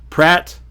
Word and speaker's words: Praat: Praat, or it's actually pronounced Praat because it's Dutch or Belgian or French.